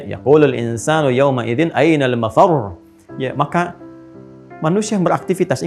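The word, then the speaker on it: مفر: insanu yawma idzin ainal mafar. Mafar ada tasdidnya tuh. Ya, ainal mafar. Ada tasdidnya, makanya bacanya juga bukan mafar. Awas. Ya, bukan mafar.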